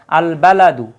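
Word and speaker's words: البلد: এর পূর্বে আলিফ লাম আসলে আলিফ লামের উচ্চারিত উচ্চারণ হবে যেমন আল বালাদু আল বালাদু মানে শহর এটা সূরা তিনের তিন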